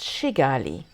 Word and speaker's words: Kigali: the name is pronounced shigali not with a hard K as it's written this we soon learned